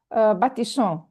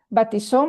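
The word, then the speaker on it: baptisons: S between two vowels is pronounced Z. But here we have two S, double S, so baptisson. D'accord? Baptisson, baptisser, baptisse.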